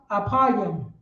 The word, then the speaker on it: Ephraim: So right here in Hebrew, Ephraim, how you say it in Hebrew is apayim.